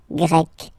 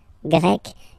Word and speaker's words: Grec: So you get the country, la Grèce, and then you get Grec, masculine form, Grec, feminine form. You write them differently, but then if you listen carefully, Grec, Grec, you pronounce them the same way, okay?